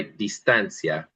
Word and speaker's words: distancia: And there probably should be an accent on the A on the guide because it's got a little pop there. Let's try distancia.